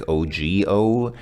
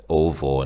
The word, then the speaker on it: ого: there, it looks like OGO. That's usually a G, but in this context, for whatever reason, don't ask me why, the G is pronounced like a V, so it's ovo, not ogo.